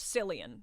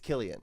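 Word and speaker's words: Cillian: And it's not pronounced Silian. It's Killian. No, but he's acting silly. You learning that? Yeah. Yeah. It's Killian. That's That's the Irish pronunciation.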